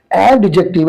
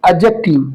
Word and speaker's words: adjective: many student said एडजेक्टिव आई एम not saying एडजेक्टिव आई am saying एडजेक्टिव ये मैं इसे एडजेक्टिव पढ़ रहा हूं आप भी एडजेक्टिव पढ़िए डी को यहां साइलेंट मानिए इसको उर्दू जबान के